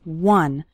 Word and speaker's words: one: finishing one short activity the word one starts with a w sound okay some students pronounce it like on but that's not correct it's one one short activity and